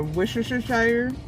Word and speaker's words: Worcestershire: Like the jam, like a Worcestershire.